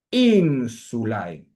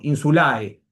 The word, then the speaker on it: insulae: Atención a la al dictongo ae se tiene que pronunciar todo junto y no puede afectar el acento de la palabra ínsula. Insulai.